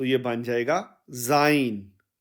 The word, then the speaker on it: sein: तो यह बन जाएगा जाइन जाइन और जाइन के स्पेलिंग अंग्रेजी में होंगे एस ई आई एन जाइन जबक जर्मन में इसके स्पेलिंग बनेंगे एस ए ई एन जाइन यानी उस लड़के का जब